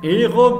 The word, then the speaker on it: héros: le ver ans d'un oiseau le héron les héros au pluriel téhéran pas de liaison le hockey